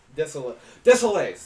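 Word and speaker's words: Désilets: Desolates.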